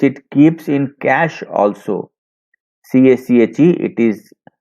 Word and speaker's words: cache: CACHE, it is pronounced cache.